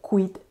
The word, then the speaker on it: quid: que préstamos son malos si ha pronunciado quid porque se cree oculta esa es la pronunciación culta latín y zante porque en latín kuyt significa por qué pero vosotros podéis decir kit que también está bien si existe una alternativa